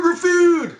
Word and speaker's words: Gruffudd: No, not the one with Jan Gruffudd, which is the only proper way to pronounce his name.